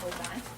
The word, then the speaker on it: Aubin: Everybody in St. Bart simply says Aubin.